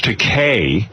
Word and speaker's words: Takei: Well, listen, we are thrilled to have you here, to have George Takei, which rhymes with okay, joining us again.